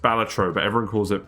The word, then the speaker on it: Balatro: Apparently it's actually pronounced Balatro, but everyone calls it Balatro.